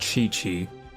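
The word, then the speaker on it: Qiqi: a Kiki you know Qi Qi apparently that's pronounced chi chi or something like that and I'm just like well why didn't they just spell it like that um and just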